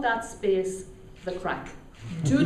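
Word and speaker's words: craic: And you have to have the crack while you're here. The word is spelled C-R-A-I-C, right? Very important that you understand that.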